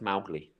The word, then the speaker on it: Mowgli: Should be pronounced Mowgli. Mowgli. Oh, Yeah. this is like Smaug or Smorg, Schmaug. Yeah, it's like yeah. So the original should have been pronounced Mowgli, whereas Disney pronounced it Mowgli.